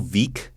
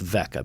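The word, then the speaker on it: Veeck: uh bill veek in the chicago it's actually pronounced vec is it vec i know it's spelled funny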